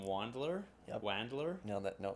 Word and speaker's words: Wandler: How do you pronounce your last name? Wandler?